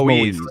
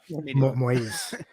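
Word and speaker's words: Moïse: I think it's Moise because it's got the two. I'm not a linguist. Yeah, Moise.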